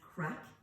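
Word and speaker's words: craic: the word crack yet it's an Irish word it's from the Gaelic language c-r-a-i-c is how it's spelled so your AIC and it's pronounced crack and it means fun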